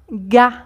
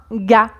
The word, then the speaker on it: gars: Un mec ou un gars, un gars. Donc, on écrit « gars » avec « rs », mais ici, on ne prononce pas ni le « r » ni le « s ». Un gars.